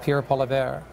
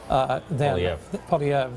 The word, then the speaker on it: Poilievre: And if you see a certain cabinet minister go down by the name of Pierre Poilievre, Poilievre, this is, the French pronunciation is that, but whatever.